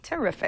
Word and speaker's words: Terefic: going to try to pronounce this is it terrific just with terrific terrific t r e t e r e f i c terrific I would say so terrific this is a